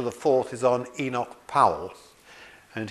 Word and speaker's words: Powell: fourth is on Enoch Powell and he pronounced his surname incidentally Powell and not po as people sometimes do now Enoch power